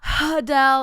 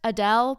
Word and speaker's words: Adele: head too but like it's not hudell and it's not a Dale it's just Adele but in a British accent um so I'm gonna